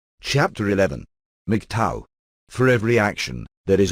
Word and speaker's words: MGTOW: Men going their own way, Mig Tao pronounced Mig Tao, notwithstanding what the man-hating